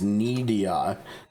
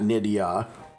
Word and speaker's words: Nidia: So, her pronunciation is Nidia, not Nidia like like your knee or something.